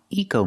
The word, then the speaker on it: eco: It's not pronounced echo mode, it's pronounced eco mode. I have to use the long E sound like green beans.